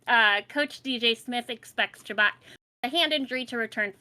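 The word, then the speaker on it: Chabot: we have Thomas chabat I don't care if that's the right way to say it I believe that is the right way to say it okay because it just makes me giggle chabat good chabat it's a great last name it's just fun to say that way uh coach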